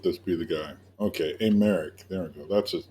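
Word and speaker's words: Aymeric: over for I don't even know how to pronounce his name please let this be the guy okay a Merrick there we go that's his name I just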